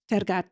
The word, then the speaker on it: Tergat: And his work on the Johnny Walker campaign, Walk with Giants, featuring Paul, how do you pronounce that? Tergat, thank you, was really his career crowning achievement up to that point.